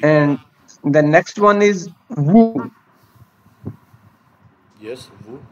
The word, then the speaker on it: vous: See, And the next one is woo. yes, who, do not pronounce S.